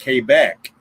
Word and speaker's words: Quebec: talkie, you've got to say words like Quebec instead of Quebec, Quebec. Right. Almost like you're pronouncing it with a K, the phonic alphabet, which is, I'm going to start it, you finish it.